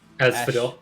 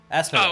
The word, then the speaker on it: Asphodel: How do you pronounce that? Asphodel. Asphodel.